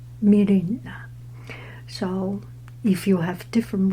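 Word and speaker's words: Myrina: meina or my mil it's like m y me this y does not pronounce y i pronounce m y r i n a m mirina so if you have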